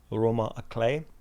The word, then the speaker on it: roman à clef: If anyone lifts a brow, I can call the book a roman à clef, which the internet suggests I should pronounce as roman à clef.